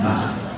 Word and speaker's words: Bach: That's right, and you know, because I'm from Germany, I know how that name is pronounced, Bach. And some people here say Bach, but if you go to Germany and you ask for Bach, they'll give you a deodorant, roll on.